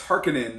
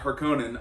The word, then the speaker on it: Harkonnen: people complaining oh it's it's harkening not her conan i i don't care